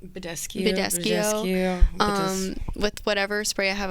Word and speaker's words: Badescu: I wet my sponge or like my beauty blender with Mario Biscaccio. I never say it right. Badescu.